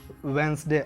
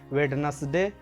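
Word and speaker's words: Wednesday: सही प्रोनाउंसिएशन होता है संडे, मंडे, ट्यूसडे, वेंसडे। अब यहाँ पे जैसे मैंने आपको बताया वेंसडे पढ़ना होता है, वेडनेसडे, यानी कि डी का प्रोनाउंसिएशन आपको बिल्कुल भी नहीं करना होता है। हम इसको पढ़ते हैं वेंसडे।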